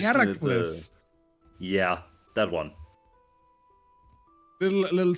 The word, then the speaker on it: Heracles: Oh, because Hercules is the Roman name of him. The Greek name is Heracles.